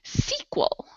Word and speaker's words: sequel: And quick pronunciation note, this here has the stress on the first syllable, so it's sequel, a sequel.